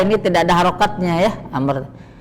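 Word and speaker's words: عمرو: tidak ada harakatnya ya Amr ketika di depannya ada wau setelah R maka bacanya Amr bukan Umar kemudian Amr kalau dia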